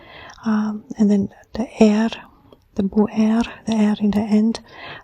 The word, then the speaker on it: Buer: It is, I almost say, it has 2 consonants and 2 vocals, And the pronunciation is Buer, Buer.